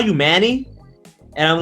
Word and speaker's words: Manny: him manny is that how your name is pronounced or am i doing incorrectly you you are doing it perfectly yeah yeah manny that's my name uh my my real